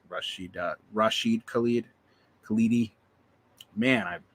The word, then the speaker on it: Rashid Khalidi: Rashida Khalid, not Rashida, Rashid Khalidi. Man, I butchered that name.